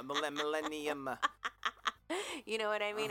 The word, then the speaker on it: Millennium: Millennia, did I say it right? Yeah, you said Millennial Falcon. That would be in the last 3 years. No, Millennium.